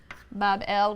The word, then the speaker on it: Babylon: magnificent shrine or temple in Babylon, pronounced Bab-El, which simply means gateway of the god, the gate of the god.